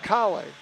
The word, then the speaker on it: Kahle: It's pronounced Kale.